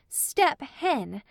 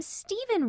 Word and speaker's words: Stephen: of one syllable and I read the name Stephen wrong I used to read it s-t-e-p step h-e-n hen step hen is Stephen enter Stephen his head